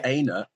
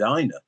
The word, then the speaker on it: Aina: I mean, Ola pronounces his own name in different ways. I've noticed. So I usually go with Aina, but occasionally I've dropped in an Aina because I've heard it refer to it as Aina, and I don't know.